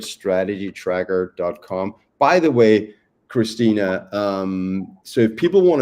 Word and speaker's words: Khristina: Christina is spelled with a KH, which always throws people off.